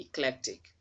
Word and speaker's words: eclectic: That letter E is not stressed, so you wouldn't say eclectic. Okay, it's not having a stress mark on it, so it should be eclectic.